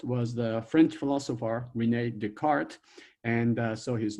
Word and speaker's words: Descartes: in there right and but you do not pronounce his name descartes his name is the card and so and somehow this d e disappear